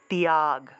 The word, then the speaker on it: ত্যাগ: এখানে অন্তস্থ ব্যবহার করেছি তাহলে উচ্চারণটা হবে ত্যাগ তিয়াগ এভাবে উচ্চারণটা হবে ত্যাগ আরো সহজভাবে যদি